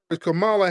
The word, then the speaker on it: Kamala: Kamala Harris no respect whatsoever no pronounce just pronounce her name Camala Harris told black people she ain't going to